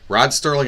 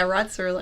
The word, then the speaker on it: Serling: Rod Sterling and Albert Hitchcock. I hear. Oh, like people mispronounce.